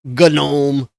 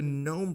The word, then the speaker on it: GNOME: The Gnome desktop and I say gnome not gome like some idiot there's no special Mark gnome has always been spelled that way it's always been pronounced that way why are we all